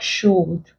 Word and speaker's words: should: short vowel sounds like should, would. If you were to transcribe this, the L wouldn't show as well. The L wouldn't be pronounced.